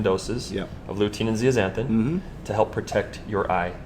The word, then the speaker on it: zeaxanthin: we call lutein and zeaxanthins. Lutein and zeaxanthin. Correct. Spelled with a Z, actually, not an Yep. X.